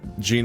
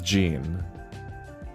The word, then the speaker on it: Jean: I already know that Gene and John. Fuck. I already know. I keep wanting to say Gene. I don't know. Let's see. It is Jean. In French, it's Jean.